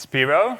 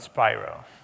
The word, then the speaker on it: Spiros: to pronounce my name its spiral like spider not spiral this is spiral very